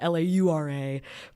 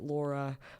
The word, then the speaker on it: Laura: Uh because my name is Laura, L A U R A, but most people say it Laura, but it's Laura.